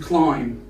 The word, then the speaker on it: climb: Moving now to these couple of words, we have debt, doubt, and climb. As you can see here, the letter B is silent. We don't spell the B.